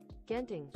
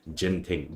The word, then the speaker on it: Genting: okay so but um I'll try try to change the the pronounciation okay is is G thing okay not the the Genting but uh okay I'll just go with it since we are talking